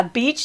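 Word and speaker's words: Bitche: of their town yeah beach is how it's pronounced and facebook algorithm got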